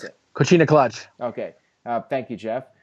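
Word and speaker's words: Coquina: put on the cic co how do you pronounce it coina clutch okay thank you Jeff um he put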